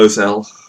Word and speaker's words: Ozzel: Ozzel or Ozell, depending on how you want to pronounce it, and Piet takes over.